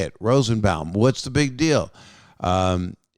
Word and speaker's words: Rosenbaum: was michael rosenbaum that's how you say it rosenbaum what's the big deal um there's a lot